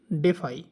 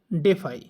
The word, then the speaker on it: DeFi: একটা অপশন আছে ক্যাটন ডেফাই বুঝছেন এটা আপনার ইউকে প্রোনাউন্সিয়েশনে হবে ডেফি ইউএস এর প্রোনাউন্সিয়েশন হবে ডেফাই তো ক্যাটন ডেফাই তে